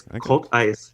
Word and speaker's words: Coltice: I wish it was Coltice. It's Cult Ice. Cult Ice. Like Cult Ice. A cult you worship and then a cult of ice.